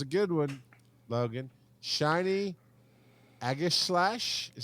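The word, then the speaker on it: Aegislash: sword that that's a good one logan shiny aggies slash is how you say that agent it's pretty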